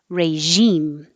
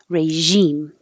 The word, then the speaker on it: regime: You can say regime with a zh, which is sh, but with sound. Zh, regime. Or you can make a j, regime, regime.